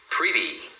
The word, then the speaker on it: pretty: Pretty pretty. Então, isso tanto vale para um T quanto para dois Ts. Você fala assim, tá? pretty. Então aqui, ó, os dois T estão entre o E o Y.